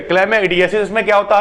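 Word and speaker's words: chlamydiasis: उसके बाद होता है क्लेमेडाइडिस। ठीक है, क्लेमेआइडिस। ठीक है, थोड़ा सा गड़बड़ यहाँ पे प्रोनाउंसिएशन हो रहा है, क्लेमेइडियासिस। ठीक है, क्लेमेइडियासिस।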